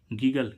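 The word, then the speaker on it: giggle: ऐसे ही इसमें हम देखें जी आई जी I double G एल ई गीगल गिगल means खिसियाना तो देखो इसमें जी के बाद क्या आ रहा है आई लेकिन फिर भी इसका उच्चारण क्या निकल रहा है ग लेकिन रूल क्या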